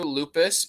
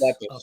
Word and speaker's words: Lepus: I always said lupus, and I might be incorrect saying it wrong, or I might have an alternative memory of how it. I remember it being, it was Night of the Lepus. You would be correct. Lepus? Lepus, yeah.